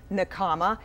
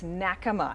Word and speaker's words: Nakama: Most people pronounce the restaurant name Nakama. It's actually in Japanese, the pronunciation correctly is Nakama, and it stands for Circle of Friends.